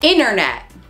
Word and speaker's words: internet: miles outside City Center internet internet instead of internet right I use the internet to do research instead of I use the internet to do research internet I don't know I can't